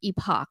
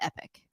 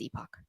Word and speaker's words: Epoch: one saying it correct it's Epoch not Epic with somebody asking that they a couple people said that they pronounced the um epoxies epic ah but it is not epic it is epoch um next th Pier